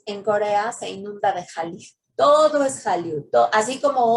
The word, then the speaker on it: Hallyu: Entonces se pronuncia de la misma forma Hallyu, aunque se escribe Han-Ryu, la pronunciación es Hallyu.